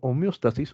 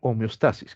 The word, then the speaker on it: homeostasis: después tenemos algo llamado homeóstasis u homeostasis como quieran pronunciar chicos el examen es